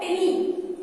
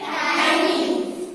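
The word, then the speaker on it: tiny: इसको आप करेक्ट बोलिएगा, इसका pronunciation most of the people गलत करते हैं। क्या पढ़ते हैं इसको? टिनी। ये टिनी नहीं है, क्या है ये? टाइनी।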